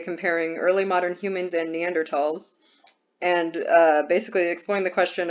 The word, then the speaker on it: Neanderthal: And I know it can be pronounced Neanderthal or Neanderthal, but I believe technically Neanderthal is the correct pronunciation, so I'm going with that.